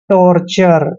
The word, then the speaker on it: torture: यानी कि टोर, और टी यू आर ई जब भी चारों लेटर इकट्ठे आते हैं इसको हम हमेशा चर पढ़ते हैं। टॉर्चर, टॉर्चर होता है कष्ट, पीड़ा, दुख, ये सब टॉर्चर होता है।